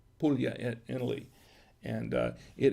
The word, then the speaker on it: Puglia: italy and uh puglia it looks like it says poogly uh but it's it's pronounced puglia puglia in italy and uh